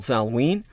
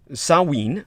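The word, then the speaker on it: Samhain: christianize a pagan holiday called salween uh which is also pronounced uh sawween uh as in sow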